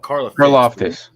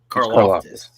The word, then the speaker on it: Karlaftis: I always call it Karlaftis. Karlaftis.